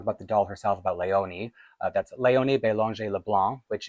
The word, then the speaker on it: Léonie: over the e, the exonteu, which means it's pronounced as a like leoni.